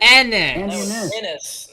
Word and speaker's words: Andis: You pronounced my last name wrong. I I did it. That's how you said to do it. Andis, not you said. You said it funny. Made it two syllables or Andy.